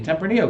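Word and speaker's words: Tempranillo: are suspected mistaken identity and may actually be tempranio grapes so true or false California that's the proper pronunciation grapes from the Central Valley are suspected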